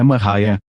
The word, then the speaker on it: Maria: Maria, cuja pronúncia é Mariah, nasceu em 1844 em uma fazenda de Lisbon, Ohio.